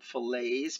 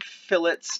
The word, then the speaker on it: fillets: we call these fillets it is spelled the same way that fillet is spelled but we don't call them fillets because we don't work at mcdonald's we call them phillips because we are draftsman engineers all right so i'm